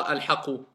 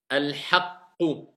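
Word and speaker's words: الحقُّ: Pas al-haqu. Al-haqqu.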